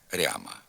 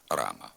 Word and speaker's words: рама: тхір четвер гірки морква у частині лівобережних наддніпрянських та слобожанських говорів пом'якшується звук р перед а в окремих словах гряд квартиря коморя макитря ряма така вимова також є діалектною ненормативною слід вимовляти град квартира комора макітра рама тепер зробимо вправи з